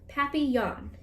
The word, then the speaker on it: papillon: neighbor's dog you say you say it like this papi yawn in french it means butterfly oh